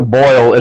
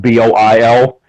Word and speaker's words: Boyle: Who is the I like to say Pastor Boyle. His name is spelled Boyle. I like to say Pastor Boyle's and Boil, but that people aren't gonna necessarily get that if you just say it.